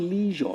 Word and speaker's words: leisure: That word the way it's pronounced simple like you want to pronounce pleasure. Okay, let's get it correctly so we don't make mistake. Especially for those who go on here as broadcasters, news readers, it's not leisure.